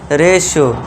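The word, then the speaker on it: ratio: टी के बाद आई ओ तो इसे क्या पढ़ेंगे? रेश्यो यानी कि अनुपात।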